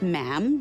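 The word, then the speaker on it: ma'am: majesty and after that is just mam rhymes with jam and it's always a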